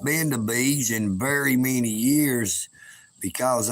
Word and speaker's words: Beas: If you're ever in the Chattanooga, Tennessee area, you can check out Bees Restaurant on Facebook. It's spelled Beas, Bees Restaurant.